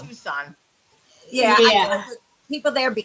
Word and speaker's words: Tucson: Just for But it your tasted information, it's terrible, pronounced though. Tucson.